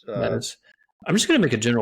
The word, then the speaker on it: Metis: Yeah, I mean it's Metis. I'm just going to make a general principle on this podcast that if I pronounce something and then Dr.